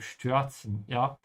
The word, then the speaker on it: Stürze: What you don't have while pronouncing is the verb stürzen. The first thing you have to remember is whenever the S comes before a T, most of the time it's pronounced like sh.